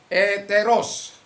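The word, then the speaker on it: ἑταῖρος: Nah, yang kedua itu adalah dari kata etairos, bacanya eteros.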